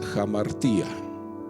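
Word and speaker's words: ἁμαρτία: Le voy a decir la palabra exacta es jamartía. se escribe así, ¿no?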